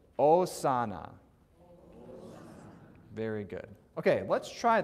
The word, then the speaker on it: Hosanna: in here is that it's not Hosanna right because the H is always silence right unless it's in between two eyes and we might come across that in the course of our studies in the next couple weeks we'll see so it's osana very good okay let's